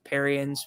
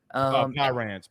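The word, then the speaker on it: Parrain's: I think it's Perrian's. Oh, yeah. Is that how you say it? Pyran's.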